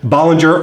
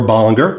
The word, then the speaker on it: Bollinger: This is the new limited edition Bollinger, or Bollinger, depending on how you pronounce it, limited edition anniversary champagne.